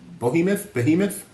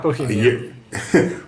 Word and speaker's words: behemoth: Just after midnight, Disney became an even larger media behemoth? I forgot how to pronounce it all of a sudden. Behemoth. And Not Bohemian.